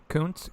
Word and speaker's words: Koontz: Koontz, Koontz.